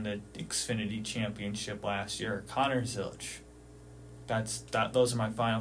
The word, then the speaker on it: Connor Zilisch: Does it rhyme with Donner Tillich? It might. Would you like to say his actual name? Connor, whatever his middle name is, Zilisch. Connor Zilisch is my champion.